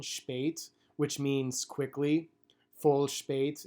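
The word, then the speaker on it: shpejt: correct in Albanian however a lot of Americans are gonna struggle with that pronunciation sh bait which means quickly foolish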